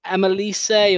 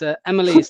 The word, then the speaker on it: Emma Lees: What do people call you? Maybe people call you Emma Lise or MLS or MLS. No, it's Emma Lees.